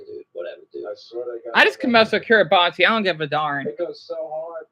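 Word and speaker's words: Kiribati: Pronounce the TI as an S. Whatever, dude. Whatever, dude. I just mess with Kiraabi.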